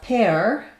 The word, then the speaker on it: pear: Another exception, so we have pear, same rhymes with wear, like wear clothes.